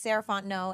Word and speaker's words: Sarah Fontenot: again my name is Sant no and you can find me at Ms sarant no so Ms s a r a h f o n t n o t the tea is silent um that's me on